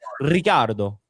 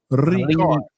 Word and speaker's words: Ricardo: You can't say my name in Italian. Ricardo. Ricardo.